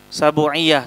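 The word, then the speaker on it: sab'iyyah: Bacanya sabu. Sabuiyah.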